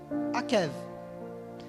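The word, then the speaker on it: עקב: Akev. Essa é a pronúncia.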